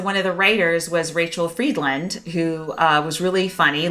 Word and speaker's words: Rachele: Yes, it's Rachel, but it's spelled like this: RACHELE.